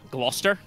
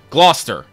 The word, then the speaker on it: Gloucester: Cathedral Norwich the Port Town how do you pronounce this processor ah Gloucester Gloucester yeah oh welcome to this